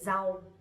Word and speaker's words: rau: Nowadays we don't really pronounce that strongly, but instead we say z. Z. Like to z. So for example, vegetables we would say rau.